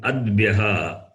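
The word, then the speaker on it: अद्भ्यः: Like in adbyaha. Yeah. Adbyaha. Yes. Adbyaha means water.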